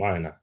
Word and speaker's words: Aina: Is that how you pronounce his name, Aina?